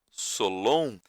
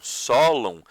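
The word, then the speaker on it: Sólon: Eu falo de forma paroxítona, tá? Esses nomes, mas tem gente que gosta de falá-los, né? De pronunciá-los de forma oxítona. Dracon, Solon. Eu normalmente falo Dracon, Solon.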